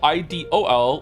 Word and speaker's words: idol: Aren't those two words pronounced exactly the same? IDLE, like idle, like you're idling, or like you're being idle, you're not doing anything. And then it's like idle, IDOL, like you're an idol, people idolize you, they adore you.